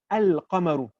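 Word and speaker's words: القمر: Like there's some words where I'll say al-qamaru. We call those the huruf qamariya. The al is actually completely pronounced.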